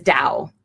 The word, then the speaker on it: Tao: pronounced to c hu it's also known as Dowell which is spelled ta oh those Chinese so you'll